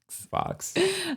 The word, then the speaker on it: Fawkes: Fox. Like Guy Fawkes.